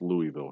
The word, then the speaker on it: Louisville: It's pronounced Louisville here. You don't have to like it.